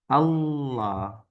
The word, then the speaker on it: Allah: dibacanya illah illah Ah tapi kalau dimulainya dengan A atau u harakat fathah dan Dah Nah maka dia dibacanya tebal nah Allah Allah Allah Allah itu dia nah Jadi intinya adalah